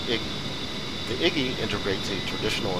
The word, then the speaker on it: EGI: The primary navigation system of the A-10C is the embedded GPS, INS, or EGI, often pronounced IGI.